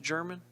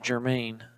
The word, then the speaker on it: German: Is it pronounced German? Okay. I almost said Germain, and I was like, it doesn't have an I.